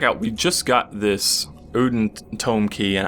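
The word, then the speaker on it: Oedon: we just got this uden toome key and I know the pronunciation uden sounds like terrible but you're going to see why I'm saying it like that in a minute beyond the tomb uden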